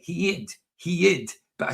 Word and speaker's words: heid: So, I would spell that h ei. Some people just spell it h e d because I think I put an i in it. Heid.